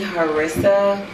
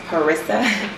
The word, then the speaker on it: harissa: we are going to be cooking the spicy harissa is how you pronounce it harissa chicken bowls i'm so excited about this so